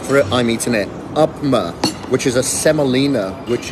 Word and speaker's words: upma: I had the upma sorry I mispronounced it and said upper early it's upma on my nutrisense 24-hour blood